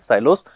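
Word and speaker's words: silos: हम लोग बोलते हैं साइलोस। कुछ लोग इनको सिलोस बोलते हैं, लेकिन एग्जैक्ट प्रोनाउंसिएशन इसका जो होना चाहिए वो होता है साइलोस, ठीक है।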